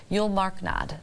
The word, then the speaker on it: Julmarknad: all of that uh pronounce it again U marknad Yu marknad so that's and it's starts with a J starts with a J